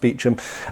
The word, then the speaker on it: Beauchamp: So this, incidentally, is the Earl of Warwick, very famous Richard Beauchamp, or spelt Beauchamp, actually pronounced Beauchamp, and that's a very famous Milanese harness of the mid, well, kind of 1430s, 1440s, 1450s.